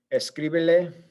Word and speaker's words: escríbele: Okay, so escríbele, again, just to maintain the stress syllable, make sure the reader knows where the syllable is stressed. It's on the I, because that breaks the rule of it being, it's not the second to last, it's the third from last.